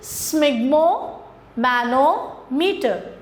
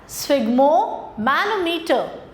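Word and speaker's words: sphygmomanometer: Answer for this is स्मिग्मो मैनोमीटर। I repeat it is pronounced as स्फिग्मो मैनोमीटर।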